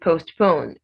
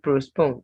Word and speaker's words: postpone: be pronounced priority then postpone no r in this word don't say bruce pong it's postponed then facade facade it's not